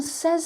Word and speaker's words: says: the present simple and remember the pronunciation here is say but this is says say says say says